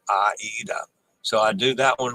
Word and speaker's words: Aida: see what does this Aida is of Italian origin and always properly pronounced Aida so I do that